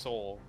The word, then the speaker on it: Seoul: it yeah yeah seal i think it's just soul i'm pretty sure it's just soul but i just every time i see it i want to pronounce it wrong a few times they